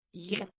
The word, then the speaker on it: ja: Ja. As in yes. Pronounced ja.